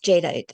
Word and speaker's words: jadeite: Jadeite.